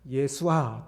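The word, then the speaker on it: ישוע: 입니다 그래서 음 그 그 당시에 발음으로는 예수와 또는 여우 수아 라고 이름을 지었을 겁니다 이것의 이제 신약성경은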